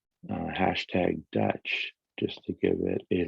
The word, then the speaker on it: DUTCH: an acronym for this which is uh utch pronounced dutch and it stands for decentralized universe there's an